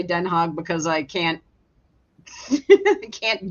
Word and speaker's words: Den Haag: And yes, Quentin, when they pronounce it with the hardcore G, it's like, ugh, seriously? It's like, no. I call it Den Haag.